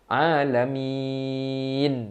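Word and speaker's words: العالمين: Alamin. Kita berhenti macam tu. Tak pernah pun orang baca Alhamdulillahirrabbilalamin. Tak pernah. Dia nak berhenti tapi na tu hidup.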